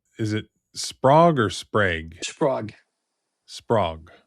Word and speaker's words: Sprague: Is it Sprague or Sprague? Sprague. Sprague. Shane had texted me Sprague with a long A. I was thinking it was Sprague because my middle name is Haig, spelled the same way.